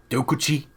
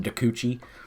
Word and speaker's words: Dokuchi: I love that card dokuchi I guess is probably the more correct way to say it I call it dakuchi which is a garbage